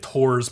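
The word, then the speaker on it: Thors: flame is Thor's yeah they pronounce it tours but it's spelled Thor's I don't know yeah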